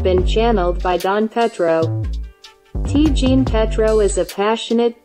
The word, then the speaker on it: Ti: T, pronounced T, is the Creole variant of the French petite.